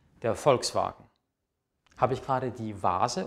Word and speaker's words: Volkswagen: kommt das weh was wie wird im deutschen normalerweise wie ein f ausgesprochen das ist also kein weh sondern ist ein von der aussprache her der vogel die vase der vater der volkswagen habe ich gerade die